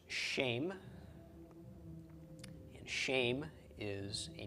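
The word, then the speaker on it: שם: Sheen followed by final mem with a tsera under the sheen is pronounced shame, and shame is a name.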